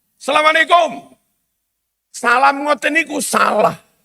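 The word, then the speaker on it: السلام علیکم: " Assalamualaikum." Apakah ada tamu seperti itu? Apakah jumlahnya banyak? " Assalamualaikum." Sapaan seperti itu salah. Itu 'al' bertemu 'sin'. Dibaca sebagai 'as'.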